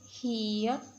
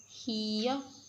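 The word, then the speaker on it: 히읗: Name is hiya. Hiya.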